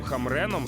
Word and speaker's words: Хамрен: ж у будь-якому разі з еріком хамреном Саме так правильно вимовляти прізвище цього Шведа треба познайомитися поближче аж